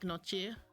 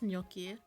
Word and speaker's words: gnocchi: I used to pronounce this as gnocchi, but I think it's gnocchi, like the G silent.